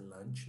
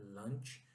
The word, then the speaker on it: lunch: Cuidado para não confundir lunch com lanche, o lanchinho. O lanche nós falamos snack. Aqui lunch, primeiro que é pronunciar lunch, não é lanche, ok? É lunch, é o almoço, né?